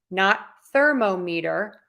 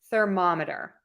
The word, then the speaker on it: thermometer: Ma right there so we're going to say Sir monitor thermometer thermometer let's look at the